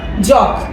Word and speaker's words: জগ: আমরা জানি বর্গীয় যাতে জগ জল এটা যেন আমরা ঝল বা ঝগ না বলি সঠিক উচ্চারণে যেন জগ ঠিক আছে তাহলে জ